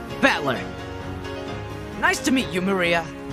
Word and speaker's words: Maria: is written like this of course this is pronounced Maria the third character looks like cross which is